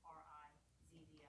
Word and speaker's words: Rizvi: Sure, Sarah, and the last name is R-I-Z-V-I, that's pronounced Rizvi.